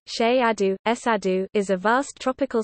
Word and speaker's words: Cerrado: The Cerrado, Portuguese pronunciation, Cheiado, Cerrado, is a vast tropical savanna ecoregion of